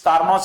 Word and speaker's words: Carnot: For Carnot's heat engine, Sati Carnot's heat engine, I am using the word Carnot's heat engine, I think T is silent. It's Carnot's heat engine.